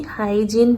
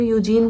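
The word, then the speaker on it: Huygens: हाइजीन बोल सकते हो, यूजीन बोल सकते हो प्रोनाउंसिएशन।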